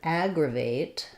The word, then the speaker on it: aggravate: have our Agra but now we have the a vowel here at aggravate so first first syllable is still stressed but in the dictionary you're going to see that first syllable stress mark Agra and then a secondary stress on vate so you'll see the clear vowel a so here the letter e does make a say its name aggravate um so um